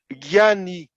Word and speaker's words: Jnani: Jnani is written Gyani. There's another way to write it, which is JN with a little curve ANA, but that nya is not very obvious for pronunciation for Westerner. So I prefer to say Jnani Yogi.